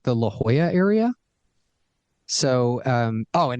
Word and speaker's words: La Jolla: to pronounce lovely embarrassingly it took me too long to figure out that that was called that was pronounced La Jolla yes La Jala in